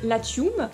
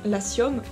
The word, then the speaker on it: Latium: Le mot latin vient lui-même du mot latium, donc je le prononce à la latine, mais vous pouvez très bien dire latium, donc à la française, qui est une région d'Italie.